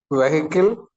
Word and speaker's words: vehicle: Vehicle. Vehicle. അവിടെ H ആ ഒരു വേർഡ് ഇത്. Vehicle H silent ആണ്. So it is actually vehicle. Vehicle. Vehicle. Vehicle. Okay, അതിന്റെ ഇടയിലുള്ള BEH ആ H silent ആണ്. It's vehicle.